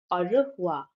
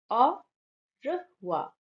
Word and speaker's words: au revoir: When you're leaving, au revoir. Au revoir. A U is pronounced as au.